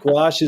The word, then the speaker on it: gouache: I tell kids you can remember it because it rhymes with the word squash. Perfect. But gouache is, and the nice